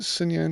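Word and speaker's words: Xinyan: good on uh yeah cineon i said it right wow it's that x that whole x thing throws me so it's a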